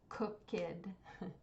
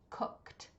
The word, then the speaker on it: cooked: or a d so do not say this word cook kid it does not have two syllables it should just be cooked okay so it should just have a t sound at the end if you say cooked